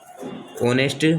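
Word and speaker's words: honest: ऐसे ही हम देखेंगे एन ऑनेस्ट, यहाँ पर भी एच साइलेंट रहता है, यहाँ ऑनेस्ट बोला जाता है, एन ऑनेस्ट मैन, इसलिए यहाँ पर भी हमने एन का यूज़ किया है।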